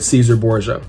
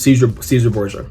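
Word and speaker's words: Cesare Borgia: the preferred image of, I'm just going to say the English way of saying it, Caesar Borgia. I know if you pronounce it in Latin or in Italian, it's different, but regardless, Caesar Borgia, okay?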